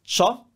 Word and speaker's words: ciao: those and think about CIA is one sound cha it's not Chia it's cha that's ciao shurma is the crew